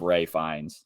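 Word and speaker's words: Ralph Fiennes: it's not pronounced right it's spelled Ralph but pronounced like I thought it was like it's pronounced like Ray fines yeah all those UK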